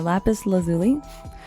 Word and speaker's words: lapis lazuli: The crystals aligned with our cosmic forecast are obsidian, moonstone, and lapis lazuli. Did I pronounce that right? Lazuli, you got me. A lapis lazuli.